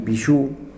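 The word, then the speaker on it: Pigeaud: Repetimos entonces el título: Melancolía, del autor Jacques Pijoux, se escribe Pigeau con G, editó Otro Cauce en la ciudad de Rosario.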